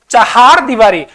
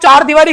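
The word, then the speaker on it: चहारदीवारी: माना जाएगा शुद्ध शब्द चहार दीवारी अब उच्चारण आप चार दीवारी करते हो तो वो चार दीवारी लिखना पड़ेगा ठीक है इसको उच्चारण कैसे है चहार दीवारी कैसी दीवारी भाई चहार दीवारी और हमारा शब्द हो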